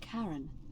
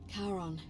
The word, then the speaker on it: Charon: it's just as you described it only your pronunciation is a little off the name you heard wasn't Karen it was c h a r o nman of the Dead karon who in exchange for the right coin helps